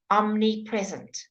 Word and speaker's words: omnipresent: way of speaking okay however the M before the N you always say okay so if it's the how you say it's in the alphabet whether the order em before in you always say both letters both continents omnipresent omnipresent okay second you want me